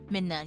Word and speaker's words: Midna: Midna? Midna, yeah.